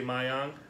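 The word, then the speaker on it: Maayong: or you're gonna say my on if there's two vowels in a row you pronounce each one so it's M ay ay Y Oh by I am oh my on Boonta you can they say my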